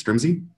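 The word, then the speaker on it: Strimzi: to go so next up I think is strumsy that's how you pronounce it that's right thanks I'm gonna go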